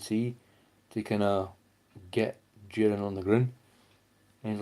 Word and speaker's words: Jiren: do that to Jiren because Jiren, sorry, that's how you pronounce it, was resisting him.